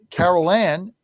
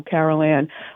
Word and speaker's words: Caroline: Nobody ever pronounces my name right, even though it's pretty simple. Caroline, listen.